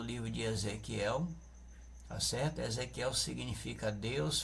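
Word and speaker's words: יחזקאל: som gutural na garganta, eles não pronunciam trazendo esse som desse K, não, eles pronunciam, né, Ezequiel, com um som gutural na garganta.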